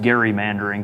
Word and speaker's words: gerrymandering: the term gerrymandering before it's actually should be pronounced gary mandarin because it was named after a governor of new york elbridge